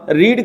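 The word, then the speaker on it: read: हो तो third form रीड का थर्ड फॉर्म होता है रेड रीड रेड रेड spelling same ही होती है इसको पढ़ते हैं रेड ठीक आई हैड रेड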